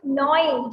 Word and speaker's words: gnawing: yes, it is gnawing. G is silent.